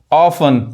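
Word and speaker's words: often: उसी तरह देखिए फासन, TEN आ रहा है, टी नहीं पढ़ाएगा, फासन बांधना, ग्लीसन चमकना, ऑफन प्राय, मॉइसन गीला करना।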